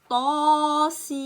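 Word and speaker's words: طس: Tasin. Et là, il faut bien prononcer le ta parce que c'est une lettre grave. Harf muraqaq. Par contre, le ya, elle est aiguë. Sin aussi, c'est aigu. Tasin.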